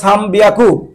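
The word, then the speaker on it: 三百: 300-কে বলে হয়, 300-কে বলা হয় সাম বিয়াকু, 600-কে বলা হয় রব পিয়াকু, 800-কে বলা হয় হাপ্পিয়াকু।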